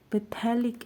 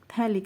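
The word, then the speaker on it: phthalic: से क्या हो जाएगा, पैथेलिक एसिड, थैलिक एसिड, ठीक है, पी इसमें साइलेंट है, थैलिक एसिड, ठीक है, थैलिक एसिड हो गया यहाँ पे।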